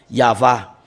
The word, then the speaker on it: יהוה: 按照那个三文字，按照那个希伯来圣经呢，就是亚法啊，这个没办法再单，这个就是亚法。